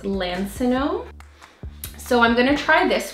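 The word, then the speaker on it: Lansinoh: I think it's pronounced Lancinone.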